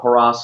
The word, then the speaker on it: Hara: the CEO of Haras Software. Uh the easiest way to remember how to pronounce our company is hip hip hooray.